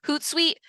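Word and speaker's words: Hootsuite: um my social yeah I see uh sir I think is how you say it you said hoot sweet yes I think there's an e it's h o o t s UI T but yeah it's hoot sweet thank you okay um next question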